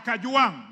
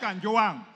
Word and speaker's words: Kajwang: I'm not Gachechwa. I am Kajwang, not Kanjwang.